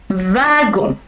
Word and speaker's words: wagon: Un wagon, même si ça s'écrit wagon, ça se dit wagon. VC en français.